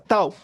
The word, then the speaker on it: tau: Es una letra griega y se pronuncia tau, la cual se utiliza para definir al producto R por C.